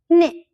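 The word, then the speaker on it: နှစ်: "Hni".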